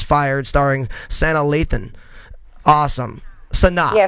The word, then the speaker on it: Sanaa: Sanaa. Yeah, Sanaa.